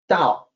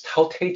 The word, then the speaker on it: Tao: on two things here the unasporated t is supposed to sound like d Tau is spelled with a t if you wanted to